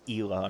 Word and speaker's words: Ela: I need to remember it's Ela, not Ella. Because I pronounced it Ella for literal years of playing this game, but apparently that's not right.